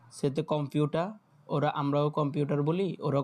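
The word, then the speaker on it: Computer: এর উচ্চারণটা আসবে না যখন এ আর ওয়ার্ডের শেষে একেবারে মানে শব্দের শেষে বসে তখন আর আর এর উচ্চারণটা আসে না।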